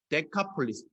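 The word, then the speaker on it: Δεκάπολις: 이게 좀 당 신고 식하게 발음은 표시했는데 원래 발음은 그리스어로 데카 홀리스 이렇게 됩니다 데카 폴리스 데카 라고 하는 말을 숫자로 10입니다 원투쓰리 5c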